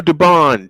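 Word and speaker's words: Dubón: Uh to bat for the Astros will be Jeremy Pena, Cam Smith, and Mauricio Dubone. 67 and 8. Uh Dubon is the correct pronunciation.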